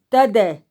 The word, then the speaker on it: Thaddée: Le troisième Judas est contemporain de Judas Iscariote, puisqu'il s'agit de l'apôtre Jude ou Thaddée. Je crois qu'il faut prononcer le E au bout. T-H-A-D-D-E-E.